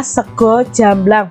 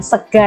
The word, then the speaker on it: sego jamblang: adalah sego jamblang nya ini bacanya sego jamblang bukan segar ya sego itu bahasa Indonesianya